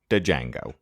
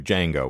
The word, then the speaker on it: Django: willie says johnny gimble the d is silent indeed and johnny gimble and all the other great fiddle players were jazz players and knew who jango was all the guitar